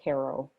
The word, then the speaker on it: Cairo: talks about during the civil war it is pronounced cairo yeah i know it is i mean we